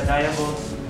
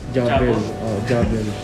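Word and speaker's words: Diavel: And this is the Diablo. Paano ba yung pronounce ko, sir? Javel.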